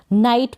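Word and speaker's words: knight: फिर ये है यहाँ पर शुरू में के एन दे रखा है, इसको क न नहीं पढ़ेंगे, के को साइलेंट रखेंगे, एन को न पढ़ेंगे, आई और ट। नाइट पढ़ेंगे, नाइट का मतलब है बहादुर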